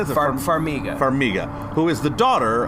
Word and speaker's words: Farmiga: hard to pronounce. Connie. Okay. So they cast Taissa Farmiga. Farmiga is Farmiga.